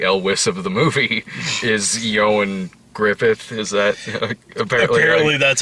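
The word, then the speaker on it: Ioan Gruffudd: ass the carrie elwiss of the movie is yo and griffith is that apparently apparently that's how you pronounce it i had to look that one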